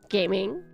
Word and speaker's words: gaming: And then you have gaming, which is gaming, pronounced the English way.